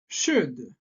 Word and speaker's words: should: Should. Should. Attention, on ne prononce pas la lettre L.